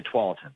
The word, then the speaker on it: Tualatin: You got to know how to say Tualatin.